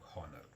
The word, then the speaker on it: honor: will know you are Horner the world Horner begins with Hector but that H is not pronounced so that is why